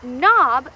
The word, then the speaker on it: knob: The word knob begins with the silent letter K.